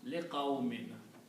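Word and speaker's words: لِقَوْمٍ: And because li is a harf jar, it will change these two dhammas to two kasras. So it will be pronounced liqawmin. For the people or for people.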